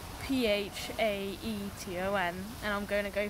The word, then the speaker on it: Phaeton: Now, this one I'm going to really struggle to pronounce, but it's spelt P-H-A-E-T-O-N, and I'm going to go for Phaeton.